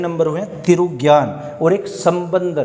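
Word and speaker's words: சம்பந்தர்: Second number हुए तिरुज्ञान, और एक संबंदर। देखना, समंदर नहीं है, संबंदर, संबंदर लिख लिख के याद कीजिएगा उनको, तो ये स्पेलिंग हमारी या प्रोनाउंसिएशन वो सही हो जाएगी बोल बोल कर।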